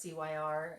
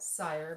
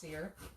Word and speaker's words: Cyr: Kind of like my name is Cyr, and it's C-Y-R, and most people want to call it Sire because of the Y.